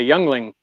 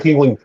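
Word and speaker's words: Yuengling: It kind of sounds like me when I say, "Hey, I'm having a youngling."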